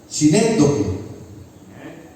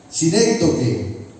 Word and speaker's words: sinécdoque: difícil de pronunciar, es sinécdoque. Una figura literaria, sinécdoque. ¿Qué es la sinécdoque? Sinécdoque, S-I-N-E-C-D-O-K-E, sinécdoque, con acento en la primera E.